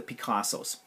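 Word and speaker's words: Pikazo: a second, is the Picassos. And actually that's the name of the app. It's called Picasso, but you spell it P-I-K-A-Z-O, and it's a lot of fun to use.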